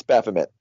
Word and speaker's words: Baphomet: I don't know. Baphomet. Baphomet. Yeah, it's Baphomet.